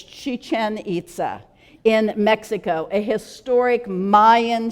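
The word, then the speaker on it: Chichén Itzá: this next one looks like it should be pronounced chicken ITA but it's not it's Chichen ITA in Mexico a historic Mayan city again built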